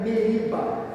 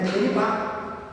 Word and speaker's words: Meribá: Aqui, quando se canta-se da maneira Meriba. Tem uma música que fala em Meribá. Então, na realidade, não é Meriba, é Meribá. Quer dizer, a pronúncia correta é Meribá.